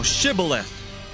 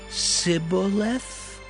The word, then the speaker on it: Shibboleth: Then said they unto him, Say now, Shibboleth. And he said, Sibboleth? For he could not frame to pronounce it right.